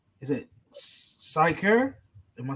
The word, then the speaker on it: Sychar: It says, "Then cometh he to a city of Samaria, which is called, is it Sychar? Am I saying it right? Yes, Sychar.